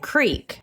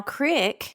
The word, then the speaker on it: creek: pronunciation of crick and creek. Now, crick is the correct pronunciation if you're in the north or the northwest or the north midland of Appalachia, but not just Appalachia, New England.